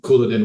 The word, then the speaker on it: Couladin: the time, it was a name that started with a C. Yeah. Right. And pronounced with a K sound. So, and from the dialogue, obviously it is Couladin.